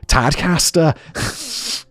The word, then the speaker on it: Tadcaster: Sorry, I'll pronounce it the northern way. Tadcaster. Tadcaster. As for the matter at